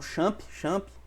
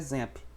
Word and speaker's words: XAMPP: Tem esse nome aqui, algumas pessoas falam Champ, mas a pronúncia correta é XAMPP.